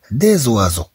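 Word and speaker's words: oiseaux: في الجمع نضيف إكس ولكن هذا إكس لا تنطق نضيفه فقط للدلالة على الجمع إذا نقول أن وازو في الجمع نقول ديز وازو إذا نقول طيرون ثم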